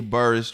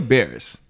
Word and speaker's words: Barris: has it mm-hmm industries right now can't you birds dropped his new show can't you birds any bird bears bears that was burst can you bear okay Kenya bears dropped his new episodes because you're pronouncing someone's